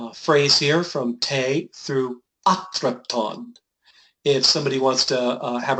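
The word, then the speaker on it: ἄτρεπτον: Te prorismene pra ionion enidea pontas es taxon para monon art at re abrepton thing. Good try, atrepton, right? Atrepton. So, yeah, and you added an extra syllable in ionon, but that's all right.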